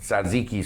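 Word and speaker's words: tzatziki: which is get this Ziqi sauce I said it right commonly referred to as gyro sauce your sauce oh I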